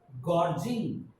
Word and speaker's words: gorging: there is double uh gorging is a new word for us g-o-r-g-i-n-g gorging g-o-r chord means sometimes we pronounce g as girl and sometimes we pronounce g as a ju gore jingle gorging koji means